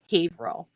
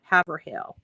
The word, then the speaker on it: Haverhill: is from away um when they mispronounce Haverhill um because that that's a tricky one it looks like it's Haverhill but uh you know and